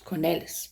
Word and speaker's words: Cornelis: In Acts 10, we read about Cornelius. My husband pronounced it Cornelis because that's his second name and he's Dutch.